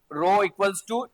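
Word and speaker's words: rho: वॉल्यूममेट्रिक charge density भी यही इसको रो से डिनोट करते हैं। ठीक है? इसको रो प्रोनाउंस करते हैं।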